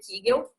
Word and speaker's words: Kegel: Na verdade se pronuncia Kegel, que eu já disse